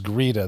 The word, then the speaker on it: Greta: So Grea, her name is Grea. That's how they say it in her native country of Sweden or where the it is.